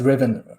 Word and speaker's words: Riven: yeah, it's Riven Riven.